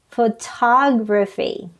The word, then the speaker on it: photography: the first syllable photograph but in photography the stress is on the second syllable photography in the adjective form